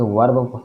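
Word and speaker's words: verb: ये वर्ब, इसके वर्ब कई लोग पढ़ते हैं, वर्ब पढ़ते हैं लेकिन आर साइलेंट होता है, इसे वर्ब पढ़ा जाता है।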